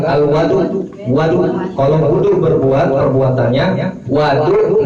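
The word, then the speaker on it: الوَضوء: Jadi kan kalau tadi pakai dhamma wawunya wudu dibacanya. Kalau sekarang fathah wawunya itu dibacanya fathah atau bisa dibilang al-wadu.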